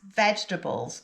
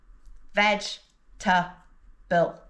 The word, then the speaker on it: vegetable: But be careful that you pronounce vegetables correctly. Vegetable is a word that learners of English often pronounce incorrectly because it has a silent syllable. When we pronounce vegetable, we only pronounce 3 syllables. Veg-ta-ble.